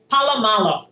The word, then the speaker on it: Paulo Malo: P poo is it Paulo how do you pronounce that Paulo Malo Paulo Malo yes Paulo Malo yes and I was fortunate